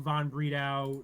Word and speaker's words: von Bredow: and power cards uh florian flovo von bredau the uh that's the correct german pronunciation if you were curious is on a weird